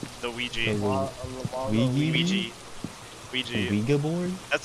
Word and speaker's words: Ouija: Ouija board? That's how you pronounce it.